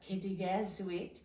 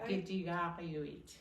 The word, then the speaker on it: Kitigariwit: It's not Kitigazwit, it's Kitigariwit. Kitigariwit.